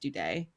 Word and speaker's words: Dude: of frog people um their last name is spelled like dude but it is pronounced due day yes um they they